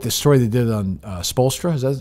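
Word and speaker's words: Spoelstra: They promote this story they did on Spolstra.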